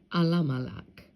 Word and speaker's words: Elimelech: Now, I don't use the E's because in the ancient Hebrew, there was no E, there was no I. So how you would have pronounced this would have been Alamalak, which means Al or